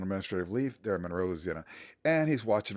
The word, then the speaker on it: Louisiana: That is how it's pronounced. Louisiana.